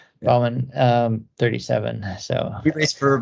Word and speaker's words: Baumann: I just pronounce it a German way, Baumann. Yeah. Baumann, 37.